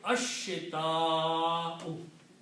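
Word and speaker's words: الشتاء: So the pronunciation will be ashita'u.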